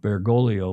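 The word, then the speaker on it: Bergoglio: Jorge Mario Burgolio. There's a G there. The second G is in Spanish and inal, at least in Italian, mostly in Spanish, is silent. Begolio was his name before he became Pope Francis.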